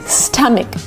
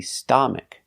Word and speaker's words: stomach: to pronounce this word is not correct to say stomach it's not a like father it's not an a it's a short sound uh like cup and up and cut uh uh St St stomach